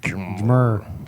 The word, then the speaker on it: GMR: It's really easy to put GMR is harder to pronounce as a word. GMR. How would you say Jim? Yeah. You just said it. Yeah, you just said it. Jimmer. Jmr. GMR. Jimmer. GMR.